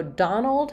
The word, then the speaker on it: Donald: while we're at it so Donald has the stress on the dawn syllable um and it has the a vowel so just like words like job or problem typically letter o in